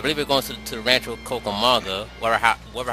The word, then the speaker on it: Rancho Cucamonga: And we're going to freaking, I believe we're going to the Rancho Cucamonga, whatever how it's pronounced.